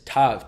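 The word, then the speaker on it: תו: Because in the Hebrew alphabet, the last letter is Tav, T-A-V. And, well, that's how it's pronounced, or that's how it's spelled out if you want to say phonetically.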